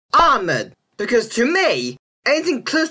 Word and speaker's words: Ahmad: But these names should be pronounced as Omar, not Omar, Ali, not Ali, and the name Ahmed should be Ahmed, because to me, anything close to the ah sound is hard to make in English pronunciation.